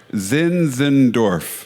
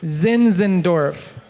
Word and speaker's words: Zinzendorf: Zinzendorf. Zinzendorf.